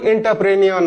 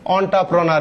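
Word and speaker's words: entrepreneur: পরেরটা আসি আমরা, দা অন্টারপ্রেনার, প্রোনাউন্সিয়েশন কিন্তু এন্টারপ্রেনিয়র না, রাইট প্রোনাউন্সিয়েশন হবে অন্টারপ্রেনার।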